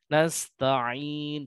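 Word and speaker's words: نستعين: Nasta'in seharusnya tidak terlalu lama.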